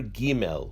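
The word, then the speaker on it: ג: The letter Gimel, when it has a dagesh inside, is pronounced as a G.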